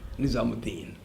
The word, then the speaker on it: Nizamuddin: You don't put Oo. Nizamuddin, but you pronounce it as Mu, Nizamuddin.